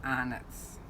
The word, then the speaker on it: Arnott's: Arnott's. Just remember that, Danny. Arnott's. I know the spelling doesn't fit with how you say it.